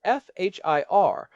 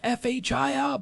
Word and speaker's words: FHIR: There is a new standard that has really taken over in the last few years called FHIR which stands for fast healthcare interoperability resources. It is pronounced like fire.